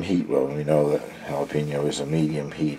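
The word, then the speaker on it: jalapeño: uh that had uh jalapeno peppers in it and the the lady pronounced it galapo that's stuck in my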